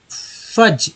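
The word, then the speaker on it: fudge: फज, एफ से फ, यू को अ, डी, जी को यहाँ पर ज बोला गया, एक्चुअली डी साइलेंट है, जी से ज होता है, इसमें ई को अ बोला गया तो हो गया फज, ठीक है, फज।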